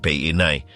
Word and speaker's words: Paine: Torres berarti menara dan Paine, diucapkan Peinai, adalah kata asli untuk biru.